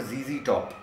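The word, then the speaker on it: ZZ Top: Billy Gibbons, there is a band called जीजी टॉप, जेड जेड टॉप. सो we pronounce American system में जी एज जेड.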